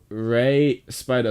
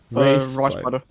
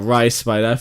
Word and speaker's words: Rye Spider: I've just been told I am mispronouncing their names. So right, Rye Spider. Huh? Rye. Yeah, Rye Spider. I have as well. I have to say I have been told as well that that's the actual way to pronounce it.